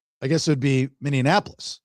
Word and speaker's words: Minneapolis: You don't like the way I say Minneapolis. That's not the word. Minneapolis. Nope. What is it then? Minneapolis. Mini. It's not Minneapolis. No, you're adding a syllable. It's Minneapolis.